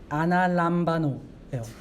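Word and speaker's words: ἀναλαμβάνω: 이것도 마찬가지로 사도행전에서 쓴 승천이라는 단어를 보면은 아나람바노예요. 아나람바노예요. 맞는 발음 기호입니다, 여러분.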